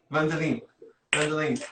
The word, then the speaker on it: Wendelien: Yeah, Wendelien. That's good. Wendelien.